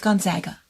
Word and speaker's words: Gonzaga: It's Gonzaga is how you say it.